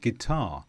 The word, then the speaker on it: guitar: Secondly, sometimes when you have U before I, you don't pronounce the U. For example, build, biscuit, disguise and guitar.